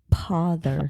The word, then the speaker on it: pother: No, I said pother. I know. With a P.